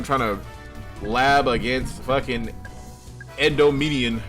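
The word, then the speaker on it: Endymion: Here I am trying to lab against fucking Endomedian. How do you pronounce this shit? Yeah, you got it. It's Endomedian.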